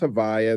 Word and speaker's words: Havaya: Which is the ineffable divine name or tetetrogrammatin composed of the four letters Yhv VH yud vave and pronounced in conversation as Havaya.